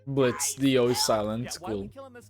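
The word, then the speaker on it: Blitzø: that sort of passion I'm Blitz the O is silent what oh oh thank you now what's the T sis the T Blitz the silence why killing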